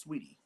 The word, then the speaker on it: Saweetie: really is just Sweetie, regular Sweetie. Sweetie. Well, it's spelled like that.